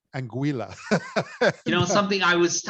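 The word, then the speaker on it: Anguilla: I say this right anguila you know something I was I was I was told all weekend that I was pronouncing it wrong and actually rhymes with vanilla so angua um but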